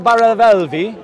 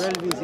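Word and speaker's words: Barelvi: Do the Deobandi agree with the Baravelvi? I might have mispronounced. Yes. Brelvis, yeah.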